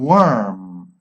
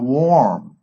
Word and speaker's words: worm: Usually OR is pronounced or, like form or for, but in this case, we are going to pronounce like a, okay, with all of these words, like, for example, word, work, world, words. worth, worth, valor, worth, and worm, gusano. Be careful, it's not warm.